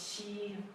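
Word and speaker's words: 夕: It means evening, and it's pronounced xi, the first tone.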